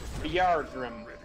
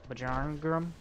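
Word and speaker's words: Bjarngrim: I believe his name is General Bjargrim. Bjargrim? Yeah, but don't pronounce the J because it's that weird.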